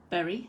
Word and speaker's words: Bury: Bury, not Bury.